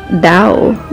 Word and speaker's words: Tao: It's like Dao, like... It doesn't start with a D.